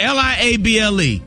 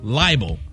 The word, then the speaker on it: liable: L-I-A-B-L-E. People say libel, right? Liable. Liable. It's liable.